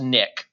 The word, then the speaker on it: NIC: And it's just pronounced NIC, N-I-C, NIC card.